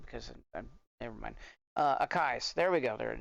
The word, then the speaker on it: Akai: they do the a car I'm never gonna pronounce that correctly because never mind uh akais there we go there it is um and